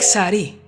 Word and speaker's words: sari: Take sari, it's Hindi, and it uses exactly the same sound.